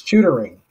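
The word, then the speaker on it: Shootaring: Just so I don't butcher the name, can you tell me how to pronounce the name of the mill? It's Shootering.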